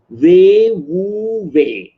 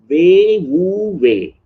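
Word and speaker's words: 無為: And another word I like from Chinese, ancient Chinese wisdom, Wei Wu Wei. That's how it is pronounced. Wei Wu Wei.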